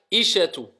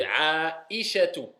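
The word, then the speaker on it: عائشة: Ensuite, aïchatu. Vous avez vu aïchatu. Je bloque. Donc, nous, on dit quand on parle Aïcha en général, on dit Aïcha, mais c'est Aïcha, si on veut bien le prononcer.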